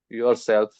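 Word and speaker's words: yourself: योरसेल्फ योर नहीं यो यो योरसेल्फ योरसेल्फ spelling योरसेल्फ spelling वही है जो आपके दिमाग में चल रहा है यू आर एस ई एल दे लेकिन आर साइलेंट है और कहिए कहिए आर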